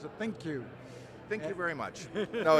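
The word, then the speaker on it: ThinQ: your with your thin think how do you pronounce it think you thank you very much no it it it's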